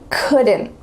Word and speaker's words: couldn't: Could, couldn't. Could, couldn't. My cats could play. My cats couldn't play. Which rule is this? We're adding a little schwa sound. Rule number 1, couldn't.